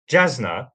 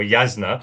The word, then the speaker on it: Jasna: So Jasna or Yasna possibly is the correct pronunciation and I think a lot of people will have heard of that.